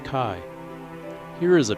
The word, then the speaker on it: chi: a large x in Greek the x is pronounced Kai here is a P with a sideways head